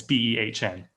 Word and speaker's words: Behn: I think it's how you pronounce her name. Might be Ben. It's Behn, who is this.